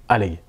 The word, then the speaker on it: Oleg: alors pourquoi ils m'appellent allègue parce qu'en fait lui c'est un polyglotte et en russe normalement oleg ça se prononce à l'oeil et donc on va